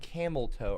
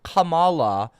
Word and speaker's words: Kamala: You're sniff and camel toe. Are you talking about Camala? Kamal Kamala is not called Camelto. Her name is not Kamlto. It's Kamala.